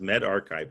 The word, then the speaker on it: medRxiv: It's pronounced Med Archive, a preprint server.